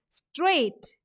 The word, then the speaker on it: straight: Then straight. The silent alphabets or letters are G and H.